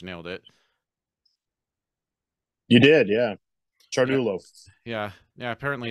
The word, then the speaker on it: Ciardullo: it you did yeah chartulo yeah yeah apparently it's like Italian or something it is Italian yeah CIA in Italian is pronounced with the CH yeah that's so weird